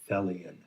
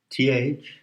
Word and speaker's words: Thelion: Put on the badge that says Thelion. Thelion. And it rhymes with Hellion.